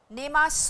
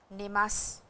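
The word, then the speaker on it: 寝ます: तो आप इसको नेमास मत बोलिए। सु को थोड़ा छोटा करके नेमास बोलिए। ने मा से लिखा वो सू जाता है लेकिन प्रोनाउंस स किया जाता है।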